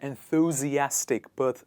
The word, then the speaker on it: enthusiastic: So a person who is quite energetic, who's always there to do things, that person is called an enthusiastic personality. But how do we pronounce it?